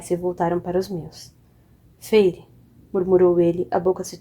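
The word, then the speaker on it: Feyre: Helene pronunciou as 2 sílabas de meu nome. Feire.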